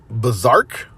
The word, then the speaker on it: BRZRKR: Next up is Berserk, It's BRZRKR. That's how you spell it.